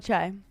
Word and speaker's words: Che: guy that does the Weekend Update oh Michael chai Michael chai who I think it's hilarious I've